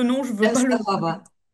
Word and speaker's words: Częstochowa: le prononce mal, chez, chez- excusez-moi Alina, pourriez-vous prononcer le nom? Je veux pas le... Częstochowa. Częstochowa.